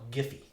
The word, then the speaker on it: Giphy: I mean, the biggest site that has, they call it Giphy. Right. Not Jiffy.